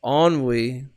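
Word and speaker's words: ennui: new word that you learned it's French it's pronounced onwe oh onwe that's basically it means you feel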